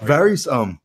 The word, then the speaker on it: Varys: I'm going with Varys, like two E's. Yeah, like Varys.